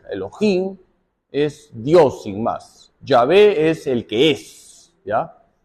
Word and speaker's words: Yahvé: Ya alguna vez he explicado que las 4 letras sagradas se pronuncian Yahvé, Yahvé. No se dice Jehová, Jehová es un artificio, ¿ya?